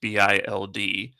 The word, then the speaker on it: Bild: Actually, while we were potting, a report came out from Bild, and that's pronounced Bild, that says, let me translate this because I always get the ones in Arabic.